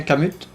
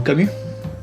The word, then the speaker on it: Camut: Donc si j'ai le nom Adrien Camut ou ou Camu, tu me diras Alex, il me semble que c'est à la française dans ça se prononce Camu.